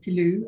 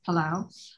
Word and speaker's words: Palau: where is palau and how do you say palau some people say tilu it's palau um and it's in